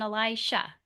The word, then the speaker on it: Elisha: Those names sound very similar, but they are not the same. One is spelled with a J and one is spelled with an sh. Elijah and then Elisha.